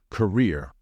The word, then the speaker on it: career: transports Goods passengers Etc however in this word the stress should fall on the second syllable so it should be pronounced as career please be careful with the